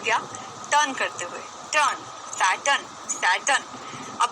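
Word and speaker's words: Saturn: सैटन, सैटरन नहीं है, अगर सैटरन बोल देते तो बेटा स्पेलिंग SATRUN हो जाती, सैटरन, तो स्पेलिंग तो नहीं है।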